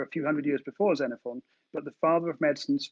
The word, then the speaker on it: Xenophon: his name was Xenophon, which is spelled with an X. So the first recorded healthcare murder may have been committed in AD 54 by the Greek physician Xenophon.